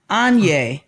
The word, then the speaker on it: Anya: Pronounced like, Anye, pronounced like Kanye without the K.